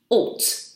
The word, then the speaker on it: ought: a spell so it's o u GH t alt but it's it's followed by two and it's